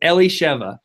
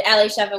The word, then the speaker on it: Elishiva: Her name is Elishiva. 1 to 10. How did I do on the name? That was perfect. So my full name is Elishivas, and Elishiva was perfectly pronounced.